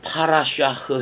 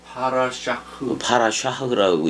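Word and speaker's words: parashah: 그거를 파라샤흐 해봐봐. 파라샤흐라고 읽어.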